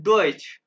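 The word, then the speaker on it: Deutsch: मैं बताऊंगा ूंगा और जर्मन को कहते हैं डइच। जैसे हमारे हां उर्दू है ना उर्दू और जर्मनी में किसी को नहीं पता यह उर्दू है। ठीक है? इसी तरह मुझे भी नहीं पता था कि इसको डच कहते हैं।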